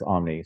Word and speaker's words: Omni: The American English pronunciation of Omni is Omni, so I'll just say but say it however you say it.